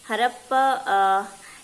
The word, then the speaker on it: Harappa: Okay, Harappa you have read in your history, है ना? This is Harappan. Harappan. This is pronounced as Harappa.